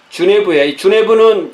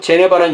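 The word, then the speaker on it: Genève: 제네바 성경은 피에 메리 통치 시기에 주네부는 이 프랑스식 발음이고 제네바는 영어식 발음입니다.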